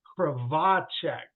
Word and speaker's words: Krivachek: So now I will always remember that it's Krivachek. Krivachek is how you pronounce Krivachek.